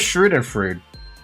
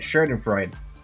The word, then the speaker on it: Schadenfreude: What the hell is Schadenfreude? Sorry, that's not how you say it. Schadenfreude.